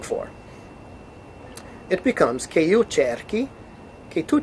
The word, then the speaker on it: cerchi: It becomes che io cerchi, che tu cerchi, che lui lei cerchi. CHI maintains that hard K, the hard C.